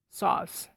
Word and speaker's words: sauce: is a one-syllable word the correct pronunciation for sauce is saw as in i saw what happened followed by sound sauce chocolate broccoli salmon almond